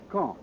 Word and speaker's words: Caen: of gravity in these reported military operations is K I'll spell that caen the big city at the base